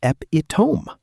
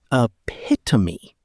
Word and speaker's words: epitome: I genuinely thought it was epitome. Like three syllables, sounds exactly how it looks. And it's actually epitome. Four syllables, completely different stress.